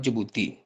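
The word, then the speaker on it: Djibouti: हमारे पास जो कंट्री आती है वह है जुबूती। ठीक है? जुबूती की spelling D जे आई बी ओ यू जी जे ज़ैनब आप बोल रहे हैं।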